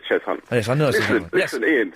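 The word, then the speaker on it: Cheshunt: Is it Cheshant? It's Chz Hunt. Chz Hunt. Chz Hunt. It's pronounced as chess hunt.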